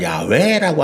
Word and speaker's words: 야훼: 근데 이제 현대에 와서 신학자들이 연구해 보니까 여호와라는 발음보다는 야훼라고 하는 발음이 좀 더 그 성경에 기록된 문자와 가깝더라.